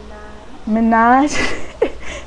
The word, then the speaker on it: Minaj: and the singers, you know, she mentioned Mickey Minaj. Is that how you say it? Minaj.